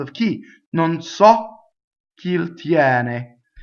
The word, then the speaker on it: tiene: Now, tiene, as in the case of a lot of semi-vowels preceding an E, opens the E. Some don't, but a lot do. Tiene, right? Single N, not tiene, right? That's the mistake we can make.